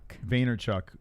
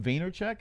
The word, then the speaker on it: Vaynerchuk: Vaynerchuk.